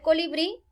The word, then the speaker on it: colibrí: tilde la palabra colibrí el pronunciar el colibrí podemos notar que tiene tres sílabas con el pri y que al pronunciar la la fuerza cae en la sílaba bree que sería la última la regla dice que